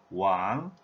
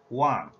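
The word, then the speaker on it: 王: And Chinese pronunciation in mainland China, the standard Chinese language, Wang, having the tone number 2 value. Also, there is another tone number value, Wang, tone number 4.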